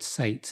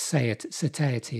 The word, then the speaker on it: satiety: filling, because the protein, I keep wanting to say the word sates, it's satiety, isn't it?